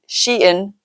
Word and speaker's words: Shein: up came a few videos, and they said Shein. So I'm right, and the teenager is wrong. So I had to chuckle about that because, teenagers are always right. And speaking of Shein, I'm going to do another order today.